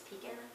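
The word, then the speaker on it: Picun: But then again, my last name is P-I-C-U-N, and it's Pekin, so pronunciations, I mean, how about Favre?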